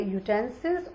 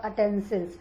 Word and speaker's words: utensils: तो उसने सारे के सारे यूटेंसिल्स और अटेंसिल्स, इसे दोनों ही प्रकार से बोला जाता है, इसकी प्रोनाउंसिएशन दो तरीके से की जाती है।